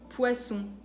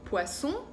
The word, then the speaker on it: poisson: Por ejemplo, Suisse, saison, sel, poisson. Y ya ven que a veces sí es muy importante hacer esa diferencia. Porque, por ejemplo, poisson es pez o pescado.